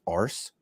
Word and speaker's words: Arce: It's Arce, Arce, no, it's per Arce, se. Arce. It's very French, Arce, like Francais. It's actually Spanish. Is it Arce is Spanish?